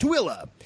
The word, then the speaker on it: Tooele: a gorilla and I did botch it - Willa is how it's pronounced he might as well just put comma